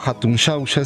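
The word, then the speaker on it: Hatun Xauxa: haciendo en torno a Hatun Sausa, Lushno, no? Bueno, eh, básicamente, como podemos ver en realidad eh eh Hatun Sausa o la antigua Hatun Shausa, si nosimos a la pronunciación en el quechua, ¿no?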